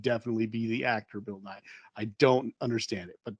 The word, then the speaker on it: Nighy: It's it just is Nye. pronounced Nye.